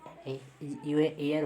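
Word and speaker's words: heir: वबिल से पहले अगर एच है तो वो एच साइलेंट, इसको नहीं पढ़ेंगे, ठीक है। ऑनर हो गया, ठीक है, आवर हो गया, ठीक है, एयर हो गया, हम्बल हो गया।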